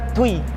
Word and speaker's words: Dui: Nah, kalau Dui kan bacanya Tui.